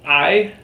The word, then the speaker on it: hay: have already learned that the H is silent the a the letter A makes the a sound and the letter Y makes the e sound so when you put them all together you have a silent sound and then you